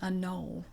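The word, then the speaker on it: anole: little bit he was an anull which is spelled a n o l e and it's the kind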